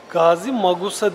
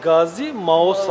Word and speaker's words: Gazimağusa: Gazi Magusa değil, Gazi Mausa. Mausa.